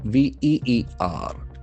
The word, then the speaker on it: veer: Bipole campaign, veers, Veer. That is another beautiful verb. Veer. Veer. The ear sound is very prominent.